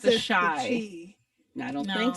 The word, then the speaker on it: Chi: Isn't Yeah. it pronounced the Chi? I think it's Shy, like as in Chicago. Chi-Town. Yeah.